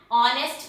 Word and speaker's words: honest: Here H is silent and we have written an in front of them. An R, an honest man, an honorable person.